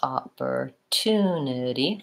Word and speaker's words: opportunity: at it really quickly so opportunity as third civil stress opportunity five syllables all together and the oh and